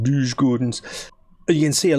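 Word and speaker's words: Djurgårdens: behind same points as douche Gardens I've said it wrong again lose Gordon's but you can see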